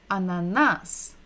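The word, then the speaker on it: ананас: So we're stressing the final syllable, the last syllable. Ananas.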